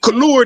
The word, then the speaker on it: couleur: It cover couleur is how you pronounce it in they dialect in France.